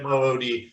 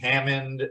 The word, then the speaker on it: Hamoud: Just straight up Hamood. Okay. People like to misspell it. They like to add N's in there, call me Hammond.